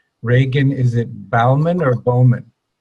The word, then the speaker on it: Bauman: I'm going to make sure I get the pronunciation of both names correct Regan is it bauman or Bowman Bowman Bowman Regan Bowman can I call you Regan yes okay and you can call me dr.